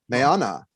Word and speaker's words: Mayana: The first three letters are Mae, which to me sound like May or my. And then Onnah, like Anna.